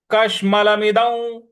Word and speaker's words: कश्मलमिदं: म पर छोटी की मात्रा है, मी हो जाएगा। दौ, द पर जो अनुस्वार है उसके आगे व है, तो इसका उच्चारण भी हम व ले आएंगे। मिदौ इस प्रकार से बोलेंगे।